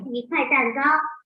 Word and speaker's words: 一块蛋糕: We pronounce it as 一块蛋糕.